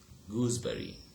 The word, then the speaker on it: gooseberry: Okay, look at the pronunciation. Okay, here this example is the reverse of the previous example. Okay, how? Like there, a voiced sound became voiceless. Here, a voiceless sound becomes what? Voiced.